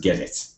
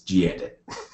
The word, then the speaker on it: gedit: Dude is correcting me, get it. Apparently it's pronounced get it. You know what? It's gedit. I appreciate the fact that some other people may call it get it, but I can't bring myself to say that.